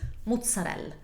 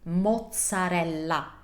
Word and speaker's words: mozzarella: Mozzarella is not Italian. Maybe similar to some regional dialects, but it's definitely not standard Italian. Correct standard Italian pronunciation for that is mozzarella. Mozzarella. I'm pronouncing every vowel and I'm pronouncing it correctly with the right sound, Italian sound.